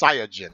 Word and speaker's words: Saiyajin: It's not Saiyan, it's Saiyajin. You bums.